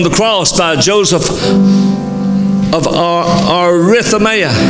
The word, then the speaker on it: Arimathea: cross by Joseph of Arimathea. Actually, I'm saying that wrong. I've said it that way all my life, and it's incorrect the way I pronounce it. Arimathea is the way it's actually pronounced.